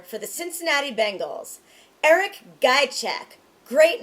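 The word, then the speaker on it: Ghiaciuc: Eric Guychek.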